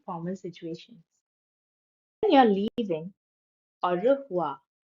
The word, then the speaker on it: au revoir: When you're leaving, au revoir. Au revoir. A U is pronounced as au.